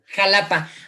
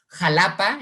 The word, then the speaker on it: Xalapa: el país advierte arquidiócesis de xalapa con su pronunciación xalapa como si quieres te cuenta la historia de